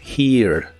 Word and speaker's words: hear: tiempo en inglés es hear. La H se pronuncia como una J suave y la I es larga o doble. Naturalmente suena un ligero sonido A antes de la R. Hear.